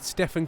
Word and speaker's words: Stefan: Chat, Steven or Stefan? It's Stefan. If you could pronounce it like that, please.